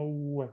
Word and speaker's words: oeste: Okay, well, remember the pronunciation, okay? Oeste, no oeste. Oeste. Oeste. Yeah.